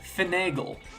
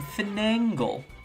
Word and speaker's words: finagle: that word specifically but words like finagle I apparently pronounced them finangle and that drove my